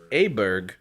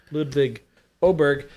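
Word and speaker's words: Ludvig Åberg: I use the same thing for pronounces his name as Ludvik Ludvik Oberg. Oberg. Yeah, his name is spelled Ludvig Aberg. I thought it was Aber, but it's pronounced Ludvig Oberg.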